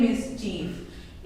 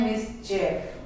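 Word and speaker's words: mischief: English होती है मिसचीफ, इसका प्रोनाउंसिएशन होता है मिसचेफ और मिसचीफ, बोथ आर करेक्ट, एक ब्रिटिश में सही है और एक अमेरिकन में सही है, तो दोनों ही आप यूज कर सकते हैं, दोनों ही प्रोनाउंस कर सकते हैं, मिसचीफ भी और मिसचेफ भी।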